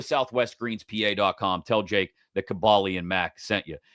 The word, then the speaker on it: Kaboly: Tell Jake that Cabali and Mac sent you. It's Cabali. It's Cabali, says Rick. That's the way it's pronounced.